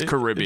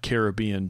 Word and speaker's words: Caribbean: It's not Caribbean jerk. So you're saying that you pronounce that word two different ways depending on the context.